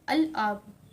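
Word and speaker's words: الأب: लाम ड करेंगे तो इस अलिफ लाम के लाम को भी हम प्रोनाउंस करते हैं यानी कि अलब ठीक है अलब जमाल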